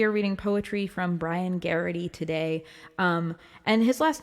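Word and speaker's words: Geraghty: tuned in we are reading poetry from brian garrity today um and his last name is spelled g-e-r-a-g-h-t-y look him up if you're local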